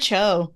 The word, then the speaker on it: Cho: have included uh celebrities Margaret Chow do you mind pronouncing that right Margaret Cho Margaret Cho stars of bling Empire